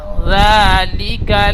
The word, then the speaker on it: ذلك: তো জিহ্বার আগাটি সামনে উপরে দুই দাঁতের আগার সাথে হালকাভাবে ঠেকিয়ে জাল উচ্চারণ করবেন। জাল, জাল, লাল খাড়া যাবার জা। ওয়াইন্নাহু আলা জা যালিকা লাশাহীদ।